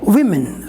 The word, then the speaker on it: women: For plural form, we have women. So how will pronounce it?